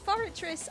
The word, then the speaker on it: Forretress: pick one for Gen 2 and that is foragers so I had to say it like this forretress I like I like a strange design I